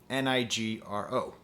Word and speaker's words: Nigro: But the correlation, the connecting line, is the producer Daniel Nigro, Nigro. I finally looked up how to pronounce his name.